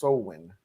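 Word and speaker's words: Samhain: It's pronounced Sowin.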